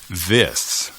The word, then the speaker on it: this: to tell you to be careful with the pronunciation of this. This, ¿correcto? Correcto. Pero para algunos hispanohablantes hay una tendencia a pronunciar la I como un I española. These. Pero eso puede resultar confuso para el oído ingleso. Si escuchas demasiado como otro adjetivo demostrativo, these, estos o estas, these.